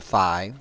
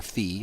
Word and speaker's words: phi: Those numbers are getting closer and closer to phi, or phi, however you like to pronounce it, which is exactly 1 plus the square root of 5 over 2.